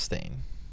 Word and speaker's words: Stane: power move dude Mr stain I'm sad though that his name isn't actually spelled s t a i n but it's pronounced it's pronounced stain it's yeah but it's